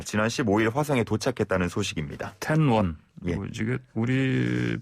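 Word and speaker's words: 天问: 테러 니로 가 지난 시모의 화상의 도착했다는 소식입니다 텐 원 움직일 우릴 발음으로 첫 문이 조차 들어 쳐 하늘의 문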